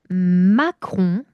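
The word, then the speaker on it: macaron: 마공. 마홍 예 마크홍은 프랑스 대통령 이름이고요. 마공은 디저트 이름입니다. 그래서 발음의 차이는 마홍 마.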